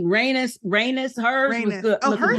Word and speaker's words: Rhaenys: And how do you pronounce her name? Rhaenys.